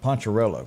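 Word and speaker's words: Poncherello: they took the character of ponzerella how do you say it poncharello poncharello and gave it an addiction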